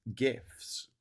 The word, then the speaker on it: GIF: Um, too hard G or not hard G. That's the question. Well, the guy who came up with GIFs says it's pronounced GIF.